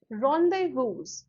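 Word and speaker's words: rendezvous: इसको कैसे प्रोनाउंस करोगे आप? What is this called? रॉन्डेवूज।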